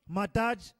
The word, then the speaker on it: Madai: Madai, pronounced Madaj, Greek Medos, is the sons